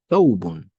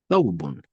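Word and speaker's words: ثوب: the back of the upper teeth, then you pronounce it. Tha, tha, tha. We have thawbun, thawbun.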